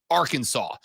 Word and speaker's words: Arkansas: declaring that the state's name should be spelled Arkansas but pronounced Arkansas so it actually uh it is actually State